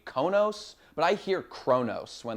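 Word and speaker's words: Qo'noS: Uh capital is So, it's spelled with complicated letters here, but everyone pronounce it Kronos. I hear an R in there. Maybe it's just supposed to be Konos, but I hear Kronos when they say it.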